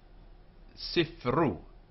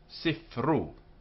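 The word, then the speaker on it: סִפְרוּ: For example, sifru, sifru. And here the sheva is not pronounced.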